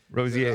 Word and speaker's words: Rosier: Rosier. The R is like a Y.